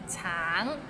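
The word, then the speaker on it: 橙: all right let's start Tang it's it means orange but some people might find it difficult because the end has a little NG so it's a bit of nasal sound T Tang no Tang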